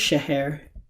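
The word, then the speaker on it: शहर: hindi is shahir and even though it is pronounced shahir is spelled shahar it is a masculine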